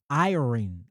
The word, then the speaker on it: iron: the way I say. Y'all, that's messed up. How you say it? N be iron. Iron. I'm I'mma say that St. Louis way.